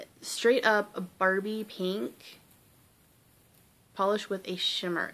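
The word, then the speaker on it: Pahlish: And it is by Polish, which is, of course, it's spelled P-A-H-L-I-S-H.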